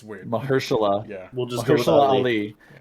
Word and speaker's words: Mahershala: I have no Mahershala. idea how to say his first name. Marshall. Yeah. Mahershala. It's weird. Mahershala.